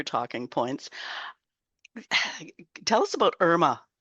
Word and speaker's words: IRMAA: Tell us about IRMAA. Is that how you pronounce it? IRMAA? Yeah, it is a plan that is based on an individual's income.